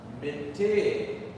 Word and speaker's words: miti: Because what I was taught is that miti.